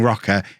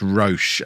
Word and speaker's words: Roche: One other thing I have learned, thanks to the comment section over the Christmas period, is the guy I've been calling Rocker. It's pronounced Roche, apparently.